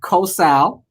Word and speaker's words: Kosal: Okay, my first name is pronounced Kosal, Uh-huh. like co-worker, and Sal.